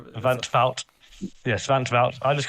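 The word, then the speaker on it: van 't Wout: obviously Xen Van I'm I keep calling him Vanout. I think it's Vanut or however you pronounce it. Vanvout, I think you Van Fout.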